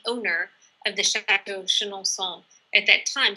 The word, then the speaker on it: Chenonceau: the chateau of Chenonceau, which we pronounce with a Chenonceau sound today, but it might have been pronounced as Chenonceau when it was built.